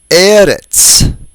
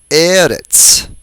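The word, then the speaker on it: ארץ: They're all penultimately stressed. That is, they all have stress on the second to the last syllable.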